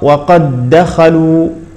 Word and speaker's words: وقد دخلوا: ثجاجا ثجاجا المثال الاخر وقد دخلوا اذا لاحظ ان الدال الاولى ادغمت في الدال الثانيه فهذا النوع من الدالات لا يقلقل فلا نقول مثلا وقد وقد دخلوا وقد دخلوا لا الدال الاولى تدغم في الثانيه وقد دخلوا